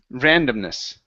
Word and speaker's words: randomness: here is pronounced Randomness the stress is at the very beginning Randomness Randomness good uh right